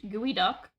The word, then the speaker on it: geoduck: The geoduck, pronounced gooey duck, huh, is the largest borrowing clam in the world and looks extremely silly.